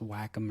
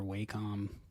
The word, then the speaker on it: Wacom: that wrong so welcome i believe technically it's pronounced the wacom but okay everybody says whack em or wacom but i think it is wacom doesn't anyway i know